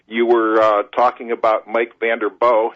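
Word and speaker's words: Vanderboegh: You were talking about Mike Vanderboog, and it's a soft ending to that, no hard G on that.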